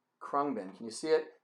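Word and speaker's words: Khruangbin: not gonna be able to spell it or pronounce it but it's called qua krungbin krungbin can you see it k i don't know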